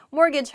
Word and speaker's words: mortgage: messed up this word mortgage like last week in class mortgage has a t in it but we don't say the t it sounds like mortgage